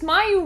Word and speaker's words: Mayu: Well, at least Mayu rhymes with where are you, so that's nice.